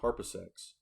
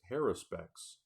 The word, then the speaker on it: Haruspex: Search for Glory, Seraph, Grim Harpasex. I pronounce it wrong. It's Haruspex.